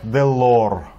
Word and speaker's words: Delord: клуба рубрика такая образовалась делор делор Да правильно читается Да попе де делор